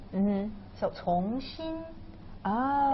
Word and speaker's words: 从: And the lower part is pronounced as 心. 心. Heart. It means 心. Mm-hmm. So 从心.